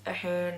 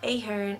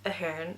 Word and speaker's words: Ahern: And for anyone questioning how to pronounce the name, it's Ahern, not Ahern, it's Ahern. It's the Irish way of saying it.